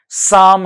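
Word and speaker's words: Psalms: और इनको जो है 1983 में द लेटर ऑफ साम, द लेटर ऑफ साम, इसका प्रोनाउंसिएशन साम है।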